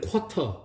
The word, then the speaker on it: quarter: 우리 한국인들은 이 단어를 quarter, quarter 이렇게 발음을 하고 있죠.